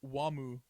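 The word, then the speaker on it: Wamuu: steam steam okay uh his name is actually wamu after the band wham oh no really george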